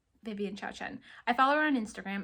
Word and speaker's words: Xiaochen: It's Vivian Xiaochen.